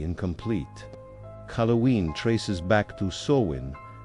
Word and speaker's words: Samhain: Halloween traces back to Samhain, pronounced Samhain, an ancient Celtic festival that marked the end of harvest and the start of the darker half of the year.